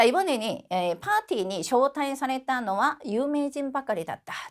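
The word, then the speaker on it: 招待: 자, 이 초대라고 하는 단어를 쇼타이라고 읽고 자, 요 동사도 같이 정보 살펴보겠습니다.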